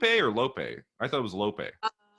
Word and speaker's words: Lope: laid into, you know, Lupe or Lope? I thought it was Lope. Yeah, Lope or Lupe. I mean, either one. Okay. Pronounce the E. Pronounce the E. It's not Lope.